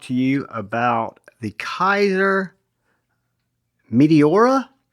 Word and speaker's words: Meteora: Hey guys, today I wanted to talk to you about the Kizer Meteora. I think I'm pronouncing that right. It's Meteora. Meteora is how I think it's pronounced.